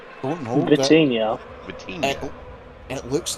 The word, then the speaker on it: Vitinha: How do you say this guy's Vintala? Don't know. but Vitinha.